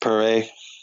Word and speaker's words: Perez: Well, it's probably pronounced Perez, but it's spelled Perez.